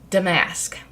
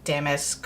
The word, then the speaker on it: damask: I've decided that it's damask, like Damascus or something. So I think the emphasis, when you look it up in the pronunciation, the emphasis is on the D.